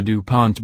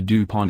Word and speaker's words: DuPont: ations in spelling the DuPont name are as follows Dupont and Dupont damor in English the second syllable is accented in French neither syllable